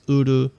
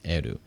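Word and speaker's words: 得る: Now, it depends on what part of Japan you come from, how you will pronounce this. Some people pronounce this as uru, and some people pronounce this as eru.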